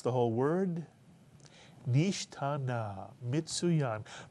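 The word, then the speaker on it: נשתנה: The first syllable is nish. The second syllable, ta. And the third syllable, Na mitsuyan. Pronounce the whole word. Nishtana mitsuyan.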